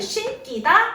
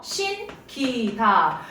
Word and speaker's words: 신기다: 신발을 신기다? 아니요. 신기다. 와, 용언의 받침 니은인데 이번에는 또 된 소리가 안 됐어요.